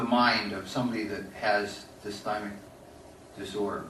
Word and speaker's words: dysthymic: But that's kind of the picture of what it goes through the mind of somebody that has dysthymic disorder. And that's the correct pronunciation.